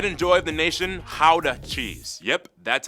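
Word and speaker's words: Gouda: Ha cheese. Yep, that's how you pronounce it, guys.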